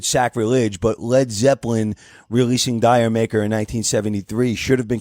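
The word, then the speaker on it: D'yer Mak'er: Roll their eyes and say it's Jamaica no it's not it's Dyer maker it's spelled d-y-e-r now it's supposed to be a tribute to reggae music the term dire maker if used with a West Indies accent is supposed to sound like Jamaica like did you make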